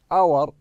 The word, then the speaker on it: hour: we say the word hour then for hour hour انا ما قلت hour started with h I started with o so it's going what hour صارت الكلمة هذه الاتش صار ايش؟